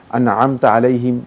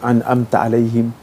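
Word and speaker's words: أنعمت عليهم: করতে ভুল হইতে পারে এখন তিনি যদি ভালো করে আনমতা আলাইহিম এভাবে না বলতে পারেন যদি আমতা আলাইহিম এভাবে বলে ফেলেন মানে এটাকে আইনের উচ্চারণটাকে সরে আর উচ্চারণ করে ফেলেন তাহলে সালাত বাতিল হবে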